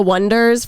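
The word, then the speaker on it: Oneders: Daisy Jones and leaders they're called the Wonders but like the whole joke of the movie is they're like because it's spelled like o-n-e dirs like wonders I don't know what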